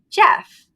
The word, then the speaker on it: Gef: I think it's on our YouTube channel and definitely on our podcast, where I talked about Jeff, or GF, because it's spelled GEF, the Talking Mongoose, who was extra sassy.